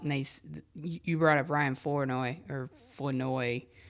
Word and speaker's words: Flournoy: did you see that they came out and you brought up Ryan Flournoy or Flournoy. That's how you're supposed to pronounce his name is Flournoy.